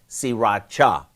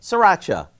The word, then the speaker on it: Sriracha: It's actually pronounced Sriracha, but most of us just say Sriracha.